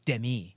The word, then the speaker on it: Demi: say her name right it's not Demi Moore it's Demi it's demii I you can't educate ignorance